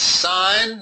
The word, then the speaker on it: sine: of 37 and it's signed not sin yeah a lot of students that want to pronounce its end because that's what it looks like it is it huh but it's pronounced sign okay okay no this